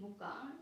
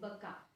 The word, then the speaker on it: Bukka: Don't say it Buka. Its pronunciation is Baka.